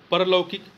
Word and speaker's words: पारलौकिक: परलौकिक, परलौकिक नहीं होता है, पारलौकिक होता है। पापे आ की मात्रा हो जाएगी, पारलौकिक।